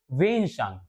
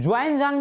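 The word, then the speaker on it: ह्वेनसांग: भाई 7th century में एक ट्रेवलर्स आया है जो हर्षवर्धन के टाइम पीरियड पे आया, उसका नाम है वेनसांग।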